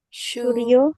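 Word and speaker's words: 数量: Suryo, Ryo. benar. Suryo ya, bukan shu ya.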